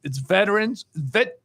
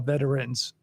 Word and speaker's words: Veterans: It's veterans if it's just 2 syllables. But if you want to be more formal or ceremonial, you call it veterans. But you don't call it veterans. It's usually veterans. So when it's plural, it's usually 2 syllables.